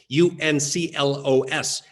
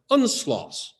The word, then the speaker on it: UNCLOS: disturbing that anyone would look at the words UNCLOS and conclude that that should be pronounced UNSLOS.